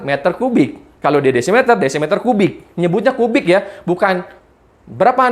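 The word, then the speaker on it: dm³: Jadi dm3 itu simbol tulisan aja. Cara membacanya adalah desimeter kubik.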